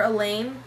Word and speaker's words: Elaine: If I didn't know better, I'd swear Elaine, rhymes with pain, just pulled an A.